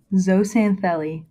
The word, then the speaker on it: zooxanthellae: gotta help me so it's called it was pronounced zoe samthali zoe santheli yes okay cool so uh how are coral